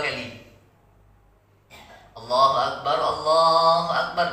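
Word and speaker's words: الله أكبر: Jadi bacanya Allahu Akbar, ya, bukan Allahu Akbar. Nah, kita dengar Allahu Akbar, Allahu Akbar, ada bacaan itu kan. Nah, jadi kita benarkan bacanya Allahu Akbar, ya, ro-nya tebal, ya, bukan ek.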